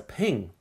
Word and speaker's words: PNG: is a PNG or otherwise pronounced as a ping and it comes in